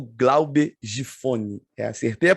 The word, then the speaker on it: Giffony: Estamos começando aqui mais um Papiando a Palavra, hoje com a presença ilustre desse meu amigo, o Glauber Gifone. Acertei a pronúncia do sobrenome?